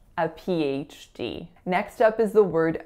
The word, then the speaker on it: PhD: like that there's an invisible Y in those words. Also keep in mind the link between the P and the H. I want you to pretend that that Y is joining both of those syllables. So it's not a PH, it's a PH.